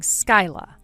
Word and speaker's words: Skyla: Gage, I was able to ask Skyla for her real name and she gave it to me. Oh, seriously? Well, she has it spelled Skyla, but you're supposed to pronounce it as Sky.